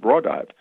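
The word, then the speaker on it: Raudive: And in case, he was explaining that this man called Konstantin Rodive, he pronounced it Rodive, had devised this thing, and it was a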